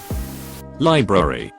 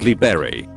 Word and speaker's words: library: a being supposedly goddamnit library not Lea berry the head of media